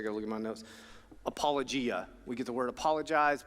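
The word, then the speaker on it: ἀπολογία: say this I gota look at my notes apologia we get the word apologize but we use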